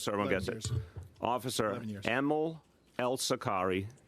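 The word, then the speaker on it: Amal: Yeah, I'm going to say Emil. It's even though it's AML, you say it like an E.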